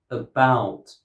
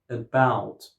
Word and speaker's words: about: So that's why in this word, about, stress is not on the first syllable. Stress goes on the second syllable. And we pronounce the second syllable louder and stronger than the first syllable. About. About.